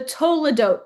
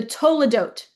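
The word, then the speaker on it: toledot: It's called the todote passages. That's to o l e d. The toadote. T O L E D O T. The toadote passages.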